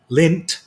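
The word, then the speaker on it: Lindt: have never done it lind lint the chocolate company also the d silent they make a uh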